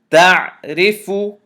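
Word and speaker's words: تعرف: This ra I'm going to pronounce heavy, and this ra I'm going to pronounce light. Ta fatha ain sukoon ta. Ra kasrari. Ta'ri. Fa dhamma fu. Ta'rifu.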